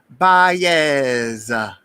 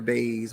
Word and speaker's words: Baez: Now we're going to say it right. Baez. Miss Monique Baez. But she said everybody call her Baze.